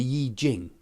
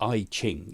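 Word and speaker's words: Yijing: taoist books um is the yi jing the or the ai ching you could also pronounce it but the iching the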